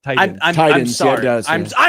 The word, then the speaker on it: Titans: Titans, Equitable, Creighton, and who knows how many other things there Titans. What are we doing? are. It sounds like there's a D when you say it. Titans. I'm Titans, yeah, it sorry.